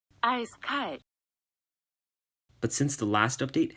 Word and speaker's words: Eiskalt: icy ice cold but his name is actually pronounced like this I sky but since the last